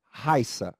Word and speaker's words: Raissa: agudo e também né Tem uma pronúncia diferente da de cima é Raíssa e o outro é Raissa vamos a diferença Olha só vamos notar a diferença veja que Raissa Raissa aqui é um ditongo são duas sílabas Raisa Raissa veja aqui